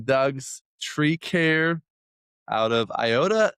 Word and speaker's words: Iota: representing Doug's Tree Care out of Iota. How do you pronounce that? Yeah, that's it. Iota, Louisiana.